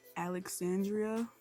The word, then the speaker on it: Ellexandria: Because my middle name, you kind of pronounce it like you have a British accent, but not really. It's Alexandria. See, not really. Because it's spelled Ellexandria.